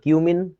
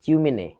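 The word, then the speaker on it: cumene: এই যৌগটার নাম হচ্ছে সি ইউ এম এন উচ্চারণটা কি হবে কিউমিন এটাকে পোলাপাইন বলতেছে চিউমিনে চিউমেনে চিউমেনে না এটা কিউমিন হ্যাঁ তোমরা পাবা অর্গানিক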